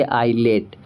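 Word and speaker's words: islet: एस साइलेंट हो जाएगा और हम सीधे पढ़ेंगे आई लेट।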